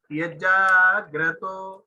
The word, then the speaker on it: यज्जाग्रतो: यज्जाग्रतो, यज्जाग्रतो, only two letter are there, long pronunciation like जा और तो.